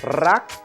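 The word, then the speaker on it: รัก: The Thai word for love is rak. It's a high tone and try to roll the R. Rak.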